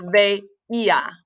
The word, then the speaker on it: veía: So the yo form is, it's still an ER verb, so it's veía. The accent on the I.